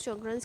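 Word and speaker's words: Sjögren: Glaucoma और हमारे पास होती हैं ड्रग्स, कुछ शॉर्टजर्न सिंड्रोम होता है उसमें, शॉर्टगन्स सिंड्रोम कुछ इस तरह लिखते हैं, प्रोनाउंस शॉर्टगन्स करते हैं इसको।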